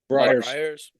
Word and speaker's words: Friars: 3 Friars or Frayers. How do you say it? Friars.